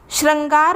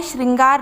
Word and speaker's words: श्रृंगार: subject श्रृंगार यहां पर श्रंगार लिखा हुआ है श्रृंगार नहीं है जबकि उच्चारण हमें क्या करना चाहिए श्रृंगार तो यह गलत है यह अगर आप लिखते हैं तो इसका उच्चारण होगा श्रंगार इस प्रकार से लिखा